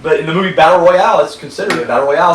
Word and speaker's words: battle royale: i'm a wrestling fan it's always pronounced battle royal and he was giving me before we turned the cameras on about it i was like that's what they always called it but honestly it's like